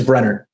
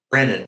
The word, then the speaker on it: Brener: That his name is Brener. Brennan, right?